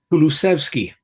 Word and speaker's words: Kulusevski: Lovely pronunciation again. And what about the Swedish midfielder? How do you say his name? Kulusevski.